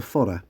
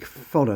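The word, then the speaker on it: fada: gaic it's called a fod I hope I pronounced that correctly spelled f a d a the D is soft a galic fod means the vowel is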